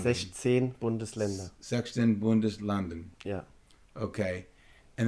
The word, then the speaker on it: Bundesländer: 16 Bundeslanden. 16 Bundesländer.